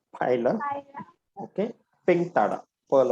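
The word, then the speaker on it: Pila: Okay, तो Loligo डेंटालियम पाइला, इसको पीला नहीं बोलने का, ठीक है, इट इज पाइला।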